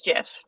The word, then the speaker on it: GIF: wrap up for real it's Jeff it's canonically a soft soft G yeah the inventor of